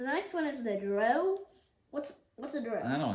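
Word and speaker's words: drow: Dro is spelled D-R-O-W.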